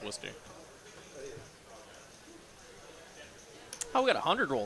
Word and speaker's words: Worcester: Is it really said like that? Worcester, yeah. Oh, wow. Like, it looks like Worcester or whatever. Yeah. It's pronounced Worcester.